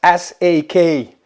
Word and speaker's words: Sakwy: 21Brothers make all kinds of soft luggage for adventure bikes, and I ordered, if I pronounce it right, the Sakwy. Yeah, that's Sakwy.